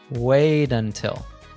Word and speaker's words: wait until: In American English, when a T is between 2 vowel sounds, it usually becomes a tap T, which sounds like a soft D.